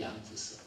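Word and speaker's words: Jan Hus: 체코로 발음할 때 얀 후스.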